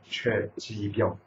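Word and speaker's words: 최집영: 그래서 이제 최자, 영자인데 이제 이 발음할 때 여는 법칙에서 발음할 때 최지병.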